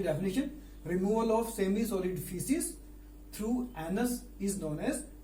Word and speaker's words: faeces: फीसिस FAECES, इसमें ए silent है, pronunciation होता है फीसिस।